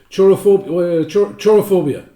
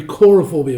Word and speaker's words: Chorophobia: Chorophobia. No, that's not the right way to pronounce that. It'd be Corophobia would be the correct way to pronounce that.